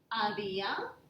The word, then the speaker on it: había: So, yo había, that is the accent on the I, yo había, tú habías, él or ella había, usted había. Notice that I'm not pronouncing the H.